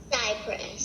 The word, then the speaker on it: cypress: that C is soft, so it does sound like S, and the Y sounds like a long I. Everything else sounds the same. It's a soft C, long I sound, and then everything else sounds what it looks like.